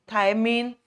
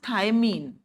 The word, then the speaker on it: thymine: Base हमें पता है, जेनेटिक्स बहुत पढ़ी हमने, बेस हमें पता ही है, adenine, guanine, cytosine, थायमिन, uracil, वो बेसिस होते हैं।